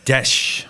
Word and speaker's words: Deszcz: how are you good marianne desh i just learned yes marianne's that's how you pronounce her last name how do you spell